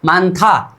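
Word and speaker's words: 많다: अब इसका उच्चारण मानना था, क्या हो जाएगा, मान था, क्या, मान था।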